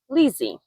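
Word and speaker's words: Liccy: Crossland Felicity was divorced Lisi pronounced Lizzy for Felicity Lizzy and her three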